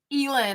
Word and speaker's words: Elin: But Elin, I called you Ellen forever. And then you posted something, Elin, on Instagram, and you were like, "Hi, I'm Elin." And then you like pronounced it. And I was like, "Great. I've been calling her Ellen for like literally my entire life of knowing her."